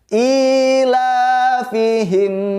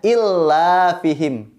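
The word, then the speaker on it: إيلافهم: Biasanya kita keliru ketika baca ila fihim. Kita kebanyakan membacanya illa fihim. Ya, anak-anak, adik-adik semua, ketika kita baca ayat 2 surat Al-Quraisy, kita harus hati-hati karena bukan bacaannya illa, melainkan ila. I-nya panjang, lamnya juga panjang.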